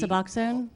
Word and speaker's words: Suboxone: I'll spell it. S-U-B... Suboxone?